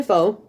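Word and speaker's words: phở: doesn't on that but apparently you're supposed to say it like a question where you go up at the end and you say uh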